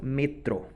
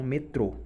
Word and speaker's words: metro: E eles pronunciam metro e não metrô, né?